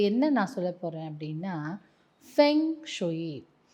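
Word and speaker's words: feng shui: இந்த பங்ஷோயின்னும் சொல்லுவாங்க இல்லஷோயின்னு சொல்லுவாங்க. சில பேர் பங்சோய் அப்படின்னும் சொல்றாங்க. பட் நான் அத பங்ஷோயின்னு சொல்லி நான் பழகிக்கிட்டேன் அதனால நான் பங்கஷயு சொல்லுவேன். சில பேர் பெங் சுயி அப்படின்னு சொல்றாங்க அப்போ லைட்டாதான் உச்சரிப்பு மாறுது ஆனா அதுக்கே வந்து கொஞ்சம் எல்லாரும் வந்து இல்ல இல்ல இதுதான் உச்சரிப்பு அப்படின்னு சொல்றோம் பட் பங்ஷுனா என்ன அப்படின்னு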